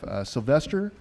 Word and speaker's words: Sylvester: Barbecue brush, and we have Sylvester. Am I saying it right? Yep.